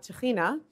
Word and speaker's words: tahina: a little bit about tahina which is how tahini is pronounced in israel so tahini this is